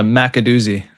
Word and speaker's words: McAdoo: That was a McAdoozy. There we go. McAdoozy, yeah. It is McAdoo. So if you're familiar with the old Roger Miller song, McAdoo, McAdoo, that's the pronunciation, which definitely makes me